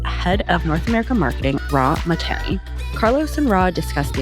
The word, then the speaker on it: Rah Mahtani: So I don't know if I was hitting the everything right with Rah Mahtani.